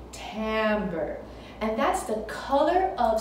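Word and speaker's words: timbre: is called Tambor Tambor it's spelled with an i but you say it with an a Tambor and that's the color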